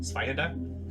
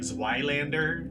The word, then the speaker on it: Zweihander: And here's how she pronounces it: Zweihander, like that. So Zweihander? yeah, so she pronounces it correctly. Everybody else in the company is like Zweilander, Zweihander.